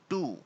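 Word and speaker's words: to: से कोई सा भी, इसको ठू नहीं बोलते हैं, ठू नहीं होता ये, आप बोलते हो ना ठू, ठू is wrong pronunciation, the right pronunciation is टू, बड़ा टू।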